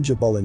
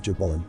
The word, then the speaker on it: Jabulon: The name Jabulon has 3 syllables, representing a composite god made up of 3 subordinate deities.